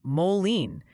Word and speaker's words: Moline: It's Moline. They formed a choir. They're chanting it complete with rhymes with Jolene singalongs.